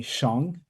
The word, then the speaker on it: Xiong: So, it kind of rhymes with my first name. It's actually Xiong.